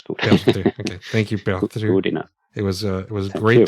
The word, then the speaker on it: Perttu: It's Perttu. Might be a bit difficult to say in Finnish language. It's quite difficult. Let me try. Perttu. Perttu. That's good. That's good. Perttu. Okay. Thank you, Perttu.